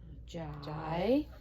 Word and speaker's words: gigantic: So we've got gigantic. Gigantic. Excellent job. And good job with that soft G because I after G makes the G soft.